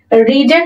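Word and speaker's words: read: কোন প্রয়োজন নেই তাহলে রেডটা হয়ে যাবে রেড রিডের কিন্তু তিনটা ফরম উচ্চারণটা আলাদাটা রেড উচ্চারণ হবে ওকে নভেল হসবিন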